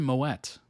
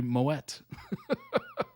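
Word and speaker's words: Moët: The T is silent, except in Moet. Isn't that weird? The champagne. For the longest time, I said Moet, and I'm like, oh, it's French. The T's probably silent. But no, it's actually Moet.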